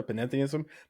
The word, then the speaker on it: panentheism: And I will say, I kind of rolled the pan and the n together, panentheism, but you just pronounced or enunciated panentheism.